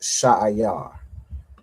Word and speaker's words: Seir: All right, it's pronounced Sha'ayar.